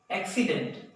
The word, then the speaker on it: accident: This is accident. This letter, the sound of this letter is hard sound, that is K, and this one is S, that is saw sound. Accident.